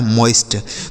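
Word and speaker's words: moist: टी से ट लिखा मोइस्ट तो अगर ओ आई एक साथ लिखा हो तो उस ओ आई का उच्चारण औ किया जाता ठीक है?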